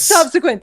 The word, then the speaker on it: subsequent: Subsequent. The emphasis is on sub.